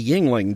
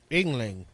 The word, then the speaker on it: Yngling: So within this realm, this bedroom realm, lies Van Lande, a king in the Yingling dynasty. Let's see how that's actually pronounced. Yngling. Yngling, close enough, who was haunted and